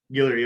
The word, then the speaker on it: Guillory: what is he i don't know how to pronounce it hillary okay thank you man uh and is the